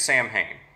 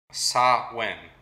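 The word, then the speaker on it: Samhain: of swin and also if you're just going to pronounce it as it looks like it's spelled it's Sam Hayne ah wait can you say how you correctly say it again sa win sahin yeah sort of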